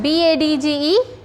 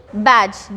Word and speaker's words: badge: Okay, so next one B-A-D-G-E, badge. D यहाँ पे silent हो रहा है.